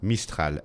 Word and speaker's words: Mistral: Mistral.